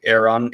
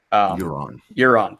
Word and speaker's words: Euron: You had a wonderful video going into comparing book Aaron, I can never say his name right. Euron, thank you.